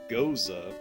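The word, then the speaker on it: Gose: Ghost, pronounced Goza.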